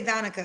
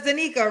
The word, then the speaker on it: Danica: Why do I want to say Donica is Danica? Everybody How many, pronounce it that way. That's why I just go by. but it's Danica, right?